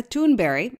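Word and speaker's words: Thunberg: with teenage climate activist greta toonberry as it's pronounced in her native sweden announcing she will not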